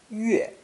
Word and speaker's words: 月: Pronounced 4th tone, 月, 月.